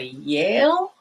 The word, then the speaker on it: Yale: to an american accent you want to go to yale or a jail i want to be